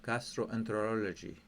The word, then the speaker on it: gastroenterology: suffer from inflammation bicard okay then we have gastroenterology okay then we have gastroenterology I will show